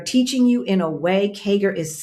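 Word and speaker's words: CAGR: Kager is C A G R.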